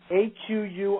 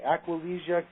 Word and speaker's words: Aquilegia: Can you spell it, please? It starts with the letter Aquilegia. Aquilegia.